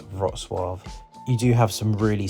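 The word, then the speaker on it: Wrocław: polish to see is rosw again it's not pronounced Ro claw but it's pronounced something like rosave you do have some really stunning architecture in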